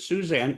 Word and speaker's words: Susanne: Even though we pronounce it Suzanne, su an n.